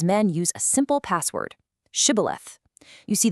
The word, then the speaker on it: shibboleth: use a simple password, shibboleth. You see, the Ephraimites had a dialect where they couldn't pronounce that sh sound, so they'd say sibboleth.